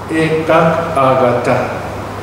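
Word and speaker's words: ekaggatā: Okay, so ekagata, right? Ekagata, that's how you pronounce it.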